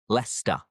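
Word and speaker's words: Leicester: Forget the cester and it is lester, worester, glouester, bister and toaster.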